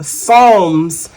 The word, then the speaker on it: Psalms: Psalms 23:6. The P in Psalms is silent, so you don't hear the P.